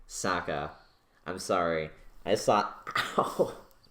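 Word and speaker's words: Sokka: them it would probably be like and Katara Ahsoka right Saka I'm sorry I thought oh I keep mispronouncing it I'm sorry I saw the movie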